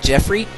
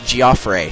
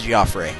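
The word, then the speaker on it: Geoffrey: General G uh giofre I know that looks like Jeffrey but in radiant Dawn when they have his name in a cut scene that the announcer will talk about they pronounced it giofre so his name looks like Jeffrey but it's giofre I know very strange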